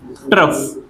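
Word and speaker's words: trough: ट्रफ। टफ की spelling में हमने एक आर लगा दिया बीच में। ट्रफ।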